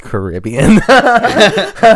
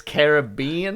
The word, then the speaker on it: Caribbean: Caribbean I think it was like what it's pronounced Carribean it's not Jacob its Caribbean Caribbean the yeah dude so